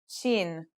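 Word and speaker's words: ش: letter we'll learn is Sheen this one is pronounced just like the English in the word shovel this one is very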